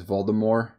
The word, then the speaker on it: Voldemort: I just don't like that he says Voldemort. Well, technically, that's how J.K. Rowling says that's how you're supposed to say it, but she kind of changed it because no one said it right. It just sounds better, Voldemort.